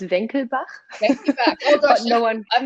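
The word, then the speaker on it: Wenckebach: butcher the name but ira has called it winky back apparently it's wanky bock but someone told me actually it's it's actually german it's venkelbach i got no one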